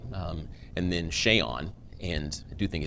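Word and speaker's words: Seun: right um and then shay on and i do think it's interesting his name is pronounced shayon if you listen to some of his teachers they pronounced it sean right little things like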